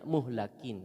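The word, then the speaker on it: مُهْلَكِين: sesungguhnya mereka itu apa kalau lamnya dibaca kasrah jadinya menghancur tapi ini kan eh apa namanya orang kafir orang kafir yang dihancurkan kalau dihancurkan berarti maf'ul jadi bacanya muhlakin ya kalau Al muhlikin itu penghancur namanya harokatnya beda bisa salah artinya apa ya yaitu orang-orang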